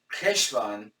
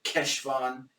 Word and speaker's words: Heshvan: Heshvan, from what I understand, it's k, as in the Germanic ch, like Bach. Yeah. So it's like Heshvan. So some people just say Heshvan when they're saying it quickly with an H. Some people actually pronounce it with a solid Keshvan or something like that.